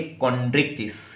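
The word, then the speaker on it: Chondrichthyes: Pronunciation clear रखना बच्चों, इसको क्या बोलेंगे? कॉन्ड्रिक्थिस, CHONDRICH, कॉन्ड्रिक्थिस, THYES, कॉन्ड्रिक्थिस, ठीक।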